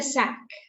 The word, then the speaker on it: sack: Given the sack. Given the sack. Make sure you pronounce the word S-A-C-K correctly. It's sack.